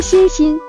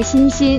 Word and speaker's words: 欣欣: 名字时，他说欣欣，广东话发音和恩恩一样。